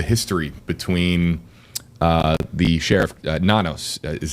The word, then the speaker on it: Nanos: Um the the the history between uh the sheriff Nanos is how I believe you pronounce his name. Correct. Sheriff Nanos.